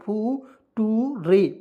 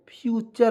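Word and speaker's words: future: जैसे आप देखिए लेक्चर, इसको देखिए बहुत लोग बचपन क्या पढ़ते थे, एफ यू टी यू आर, फू टू रे, फूटूरे नहीं, फ्यूचर पढ़ेंगे दोस्तों, क्या पढ़ेंगे, फ्यूचर।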